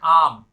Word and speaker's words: I'm: इस तरह लिखते हैं और इसको प्रोनाउंस करना है आम।